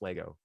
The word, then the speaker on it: LEGO: you have john richards it is pronounced lego anyone who says legos is wrong so that i'm just